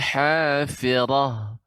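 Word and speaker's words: الْحَافِرَةِ: Firah ya, tidak firah ya, tapi firah tetap bibir kita pada posisinya ya, tidak monyong. Jadi pengucapannya fil hafirah, rah dengan fil hafirah. Berbeda dia.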